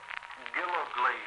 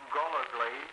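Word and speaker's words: Gillogly: The first name, Fred Dale Gillegley, Jr. That name can also be Gullegley. It's spelled that way in the home address. First Lieutenant Fred Dale Gillegley, Jr., or Gullegley, G-I-L-L-O-G-L-Y, or G-O-L-L-O-G-L-Y.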